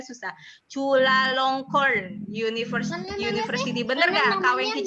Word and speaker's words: Chulalongkorn: Lalu Kak Wengki itu nama kampusnya susah banget nih, Bu Rini ya, bacanya susah. Chulalongkorn University.